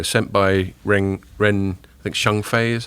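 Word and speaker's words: Zhengfei: by Ren I think Shengfei is how you pronounce it. Ren the founder. Wei taught me once how I pronounce it, and it's Shengfei, I think.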